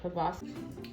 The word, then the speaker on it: proboscis: You can see he has this, how do I say it, proboscis? Proboscis or proboscis? Either pronunciation is acceptable.